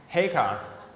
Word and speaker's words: Heacock: His name is pronounced Heacock.